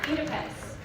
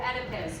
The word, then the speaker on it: Oedipus: Daughter of Oedipus, or Oedipus, depending on your pronunciation. Or Oedipus? Oedipus.